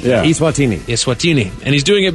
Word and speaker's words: Eswatini: announced he's changing the name of the entire country to Eswatini. Eswatini. Eswatini. Little E, big S, Swatini. Yeah. Eswatini.